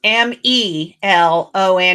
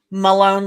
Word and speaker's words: Melone: And it's Melone, not Malone like we normally would spell it. Like an A, yeah. Yeah. So it's spelled with an E.